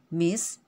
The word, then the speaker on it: Miss: kemudian Miss tulisannya emises pengucapannya adalah dengan bunyi huruf s dan bukan Z Miss bukan Miss terjemahan Bahasa Indonesianya adalah